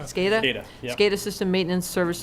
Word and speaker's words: SCADA: SCADA. SCADA?